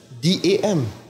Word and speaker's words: Dam: It's spelled as, in English, D-A-M.